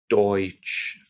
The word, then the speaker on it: Deutsch: EU, or EU in German, is pronounced oi. Oi, like oi mate, come over here. Oi. And the word Deutsch has that word in it.